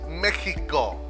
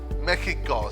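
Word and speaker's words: México: It's Mexico, Mexico. So you could change the X sound for an H sound in English.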